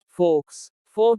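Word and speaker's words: faux: X is silent in certain words. कुछ शब्दों में X का उच्चारण नहीं होता। फोक नकली।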